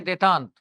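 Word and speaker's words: détente: अंग्रेजी ये बनती है स्पेलिंग डी इंटेंटे, ठीक है ना, बोलते क्या है देतांत, तनाव शिथिल्य।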